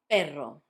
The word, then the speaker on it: perro: You can see that in this case we've got two R's. That's because between vowels you can put two R's, and that makes the r sound like dr. If you've got two vowels, repeating, you put two R's to make it sound strong.